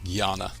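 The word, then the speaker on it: Jnana: goal of Gana yoga so that JN na is pronounced Gana as we discussed earlier in the class Karma Yoga Karma means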